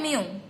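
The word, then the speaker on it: μ: ये जो लिखा हुआ u, इसका प्रोनाउंसिएशन होता है म्यू। इसको आप यू नहीं बोलोगे, म्यू बोलोगे।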